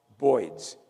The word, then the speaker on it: birds: The next day, the camp is surrounded by boids. I'm from Brooklyn originally. That's the correct pronunciation for birds.